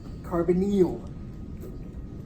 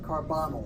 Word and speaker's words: carbonyl: Make sure you pronounce that correctly. Carbonyl, not carbonyl like some people like to say.